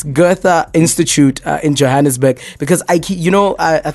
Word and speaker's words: Goethe: the name wrong again it's the G off is that good good yes Goethe Institut in Johannesburg because